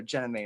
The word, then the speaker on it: Jenna Dumay: The do is silent, so Jenna May is fine.